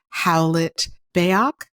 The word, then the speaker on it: Howlett-Bayoc: much for joining today we have Dr Amber howlet beok have I pronounced your name correctly correctly yes who is